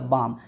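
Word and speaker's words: balm: ये मेरा हो गया बाम यहां पे एल साइलेंट है ठीक है एल साइलेंट है लेकिन ए के बाद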